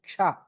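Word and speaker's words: क्ष: says, but any letter, any word which starts with the word ksha, ksha, kshatriya, that ksha, right? Before you pronounce that word, you have to give a small pause. It should not be a stop. It should be a pause. And then you should say it, because you have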